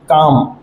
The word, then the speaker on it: calm: Word है काम, CALM, काम। अब काम को कैसे लिखेंगे, काम में हमको स्पेलिंग में सी सुनाई दे रहा है पर बोलने में के का साउंड आ रहा है, काम।